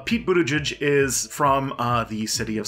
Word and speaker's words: Buttigieg: the one that has the really hard to pronounce name that everyone talks about his name is pi pi e pi tour buddha judge we're gonna talk about this guy so mayor